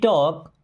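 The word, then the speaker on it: talk: कौन है okay we टॉक अ लॉट वी मीस होता है हम इस वर्ड में एल साइलेंट होता है इस टॉक पढ़ते हैं टॉक मींस बात करना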